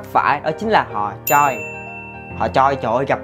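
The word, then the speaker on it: 최: Cái từ Choi này các bạn phải đọc đúng là Choi.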